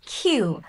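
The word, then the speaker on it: queue: লাইনকে ইংরেজিতে বলা হয় কিউ দেখেন কিউ ইউ ইউ বানানটা দেখে কমপ্লেক্স মনে হল উচ্চারণটা একদমই সহজ কিউ তাহলে লাইনবাকে আমরা বলি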